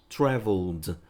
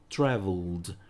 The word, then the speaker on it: traveled: Então, traveled, traveled. Diferentemente de wanted, que eu pronuncio id, aqui eu só vou pronunciar o som do d em ed.